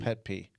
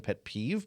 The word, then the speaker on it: pet peeve: See, you know what my pet peeve is that you don't know how to say the word. Are you saying pet peeve because yeah.